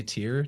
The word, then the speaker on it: Tyr: We say Tyr, T-I-R. It's phonetically looks a lot like the word that's spelled T-Y-R-E, which is a so-called Phoenician word.